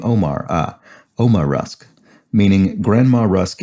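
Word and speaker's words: Ouma: The classic rusk is the buttermilk Uma rusk, pronounced like the name Omar.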